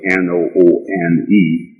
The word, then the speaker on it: Noone: And Noone, which is spelled N-O-O-N-E and indeed pronounced Noone, is the science of sound right reason, who is definitely the best mind of the one supreme being.